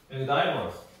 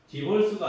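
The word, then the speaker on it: diverse: 다이버스 네. 이것도 마찬가지예요. 디버스가 아니라 다이버스예요. 다이벌스 다이. 어 양성 몸으로 이제 발음을 하는 거죠.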